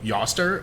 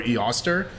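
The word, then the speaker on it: Eostre: ostara who is her her name is spelled e-o-s-t-r-e so I'm saying yoster or E Oster um there's there's not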